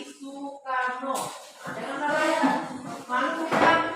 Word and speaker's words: Soekarno: Ejaan lama O diganti menjadi U sekarang ya. Makanya bukan dibaca Soekarno tapi Sukarno.